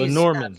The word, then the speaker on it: Lenormand: It's But Lenormand. how you doing? Good. I It's would it's named after Marie Lenormand from she's Lenormand.